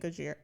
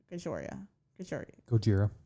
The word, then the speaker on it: Gojira: harcas deaf Haven and gojoria Gojira Gojira oh my God we said their name wrong for so long and now I can't say it because I think we used to call it gajoria oh I don't know